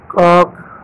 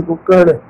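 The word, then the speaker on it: cock: कॉक, मुर्ग, सिंधी में कुक्कड़. हैन, मुर्गी. बहुत से लोग काक को कोक पढ़ते हैं, वो गलत है. इसका सही प्रोनाउंसिएशन है काक.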